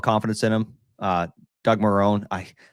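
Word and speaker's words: Marrone: in him uh Doug Marone I I keep wanting to say Doug Monroe because I keep hearing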